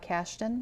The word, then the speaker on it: Kashdan: Todd Kashdan, is that how you pronounce his name?